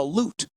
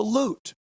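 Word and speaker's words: lute: a loot. A certain type of loot. That word has taken on a new meaning in in certain communities, hasn't it? It's spelled different. L U T E. The loot. And um it looks kind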